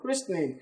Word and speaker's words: christening: what Krishna Krishna not Christian you know what christening you've got a Christian D baby you gotta